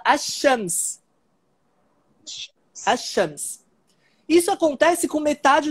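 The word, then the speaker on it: الشمس: Só que o que acontece é que esse l do al, ele assimila com o sh. Então, quando o falante nativo pronuncia essa palavra, ele não fala al-Shams, ele fala ash-Shams.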